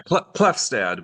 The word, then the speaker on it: Klefstad: And today I have a very special guest, Klefstad. Hi. Great to be with you. Did I say it correctly? You did, yeah, Klefstad.